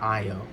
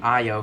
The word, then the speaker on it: Ayo: door milani um and it was uh ayo or it's not io i think it's i think it's io bucky said io pronounced her name ayo who's like um i